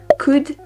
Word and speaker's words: could: hard pedestrian okay would I guess you don't say the L could yeah okay country country